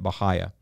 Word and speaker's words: Bahia: And I would just listen, and I would hear people pronouncing it Bahia. Now, on top of that, I got some more validation on the way that I pronounce it when I met Mark Govan.